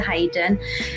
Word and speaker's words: Haden: back to my maiden name which is Hayden um people often wonder how to pronounce that so it's uh you say it's